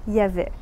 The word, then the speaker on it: il y avait: « ya » et si c'est à l'imparfait « il y avait » on va faire « y avait ».